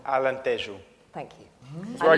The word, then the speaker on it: Alentejo: an area of Portugal, which I'm going to pronounce very badly, but it's Alentejo. Alentejo.